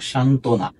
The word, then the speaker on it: সান্ত্বনা: ব ফলা রয়েছে সান্ত্বনা যদি যুক্তবর্ণের সাথে বফলা হয় তাহলে সেই বফলা উচ্চারিত হয় না কারণ কি কারণ যখনই